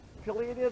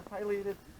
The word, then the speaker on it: pileated: Pileated or pileated? Both okay? Yep.